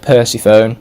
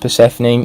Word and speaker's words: Persephone: cool coming in at number six we have percy phone i'm kidding i know it's pronounced persephone and what's so great about here is her